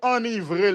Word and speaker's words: enivrer: Moi, c'est enivrer lié, mais le drôle vrai. Parce que c'est E-N-I.